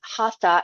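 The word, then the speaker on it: hatha: um You probably heard the word haa h a t h a hat pronounced hat in Sanskrit which is the language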